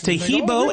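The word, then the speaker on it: Taheebo: Tahibo is spelled T like Tom, A-H-E-E-B like boy. Oh, that's Tahibo, and then continue with the word tea, and then the word club.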